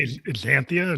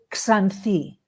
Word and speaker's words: Xanthi: So My Xanthi, is that how you say that? It's a hard one for English speakers to pronounce. So Xanthi is fine. Xanthi. Greeks would say it Xanthi.